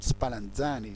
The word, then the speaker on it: Spallanzani: las islas británicas y lázaros spallanzani se pronuncia así las aves para enseñar